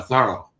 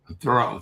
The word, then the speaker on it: Thoreau: And then as he got thinking about his uh last name he liked the sort of French pronunciation better. Uh thorough rather than thorough thorough.